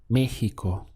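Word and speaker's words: México: Mexico would be in Mexico notice the pronunciation there where we have the stress point over the e so we get me and this sound here Meo it sounds like a h here Mexico in Mexico how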